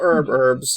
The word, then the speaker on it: herbs: Well, herbs. I mean, it's a plural. Herbs is multiple. No, it's the fact that I pronounce the H.